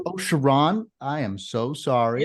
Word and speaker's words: Sherron: It's pronounced Sherron. Oh, Sherron, I am so sorry.